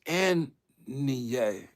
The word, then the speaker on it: Ann Li: Let me just make sure I say her name. Try to say it right. But it's Ann Li.